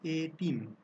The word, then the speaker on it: এতিম: এখানেও কিন্তু এ ধ্বনিটি স্বাভাবিক এর মতোই উচ্চারণ হচ্ছে, এর কিন্তু এ উচ্চারণ আসছে না, তাই না?